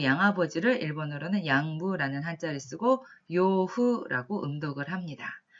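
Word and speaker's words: 養父: 그에 반해서 의부라고 한자를 쓰고 읽었을 때는 기후라고 읽습니다만 이거는 의붓아버지를 읽었습니다. 다음으로 양부, 양아버지를 일본어로는 양부라는 한자를 쓰고 요후라고 음독을 합니다.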